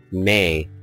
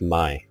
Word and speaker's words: May: game um was saying May was actually pronounced my so I'm going to